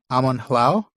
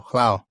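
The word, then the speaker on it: Amon Lhaw: Amon Hlau? Hlau? Okay. Hlau, yeah. Yeah, because the AW is pronounced the same as the AU. So it's ow, not aw.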